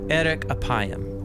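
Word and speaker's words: ארך אפים: In Hebrew, the phrase slow to anger is pronounced eric apayam or literally long of nose.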